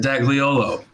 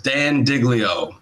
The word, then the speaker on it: Dag Leolo: to say um but most most anyone's ever messed it up was in Austin Texas the host asked me about 47 times how do you say your name I said dag leolo he goes okay and then he brought me up as Dan diglio soo's tough but leave